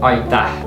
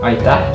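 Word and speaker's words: Aitäh: Aita. Oh? Aita.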